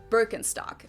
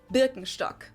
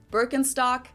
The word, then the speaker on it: Birkenstock: the world nowadays, and it's natural that people pronounce it with their native accent. So English speakers usually say Birkenstock. In German we say Birkenstock. Birkenstock, Birkenstock, which literally translates to birch stick.